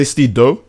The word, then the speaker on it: Steedoj: I would prefer if you just say Steedoj. But you can say Steedoj if you want.